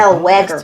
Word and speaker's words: Zellweger: First of all, I it's said, Zellweger. two white women. I like saying I mean, Zellweger.